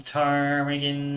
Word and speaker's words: Ptarmigan: That's from Ptarmigan Ridge again. I assume the P is silent there.